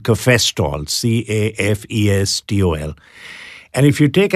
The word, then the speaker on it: cafestol: How do you spell that? K-A-H-W-E-O-L, caveol. And then there's something called cafestol, C-A-F-E-S-T-O-L.